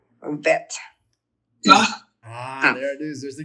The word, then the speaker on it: Kaf: So you have the cough with a dot, so it is a K sound, not a CH sound.